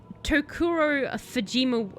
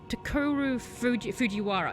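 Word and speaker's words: Takuro Fujiwara: you actually had um I'm gonna say his name wrong um tokuro fujima fujiwara sorry takuru fujiwara he actually was uh producing that he went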